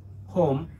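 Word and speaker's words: whom: বাট এখানে যে তিনটা WS ওয়ার্ড আছে, for instance হু, হুজ, হোম, এখানে W সাইলেন্ট থাকবে।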